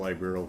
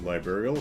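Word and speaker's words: Liberl: since formally apologized to Liberal, calling the war... I think it was liberal. I think it's a hard E, if I remember how the folks on the train were pronouncing it earlier.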